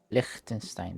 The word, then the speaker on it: Liechtenstein: Liechtenstein, that's how it's pronounced.